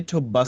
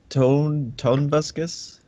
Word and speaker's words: Tobuscus: Say Tobuscus. React to Toby Turner. What are you gonna say? Tonebuscus? Say Tobuscus. Tonuscus. Say Tobuscus. Tobuscus? Yeah, that's his YouTube name. All right. Should be easy. Tobuscus.